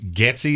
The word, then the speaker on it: Getsy: somewhere in there if Luke was it Luke getsy is that how you pronounce his name yep if he comes in